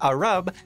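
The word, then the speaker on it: الربع: (The arroba is generally thought to have derived from the Arabic ????? pronounced ar-rub, which meant “a quarter.”)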